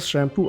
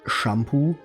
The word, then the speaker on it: Shampoo: German and then the the second half is just pronounced the same way as it is in English come